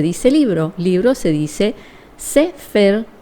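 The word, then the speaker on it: ספר: Libro se dice Sefer, o sea, se puede decir Seper, pero es Sefer, se pronuncia así.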